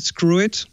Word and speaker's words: Skrwt: w squir i i I think they want they want they want to pronounce It screw it but okay I get